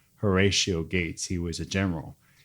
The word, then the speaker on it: Horatio: to lead the assembly we called him heratio but his actual name was Horatio Gates he was a